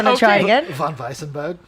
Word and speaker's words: Von Weissenberg: How do you pronounce it? I would say Von Weissenberg. Okay. Okay. It's harder. Do you want to try it again? Von Weissenberg?